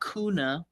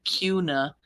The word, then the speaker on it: Kuna: left if you were going to head to Cuna which by the way it's not kuna somebody corrected me in my comment it's Cuna so I said I would try harder um